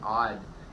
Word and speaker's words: Odd: It is pronounced Odd, right?